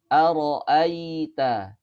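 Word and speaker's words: أرأيت: Misalkan aro'aita, aro'aita, ya. Dan di situ aro'aita hamzahnya berharokat fathah lalu diikuti oleh huruf ya sukun. Maka hamzahnya di situ dilembutkan aita, aita, ya. Jangan sampai dibacanya ae, ya, nggak boleh aita, aro'aita, ini kurang tepat.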